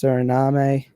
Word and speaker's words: Suriname: Guyana - well it's it's spelt like surname but I think it's Suriname a and these guys